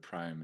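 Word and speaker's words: Priam: Iliad between Achilles and prium prium which is the correct pronunciation I'd say prium I think it's a little closer to the Greek but Prime is perfectly acceptable okay um and there's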